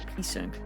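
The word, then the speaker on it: psync: the sink said the pync in the somnium earlier the p is silent I saw someone else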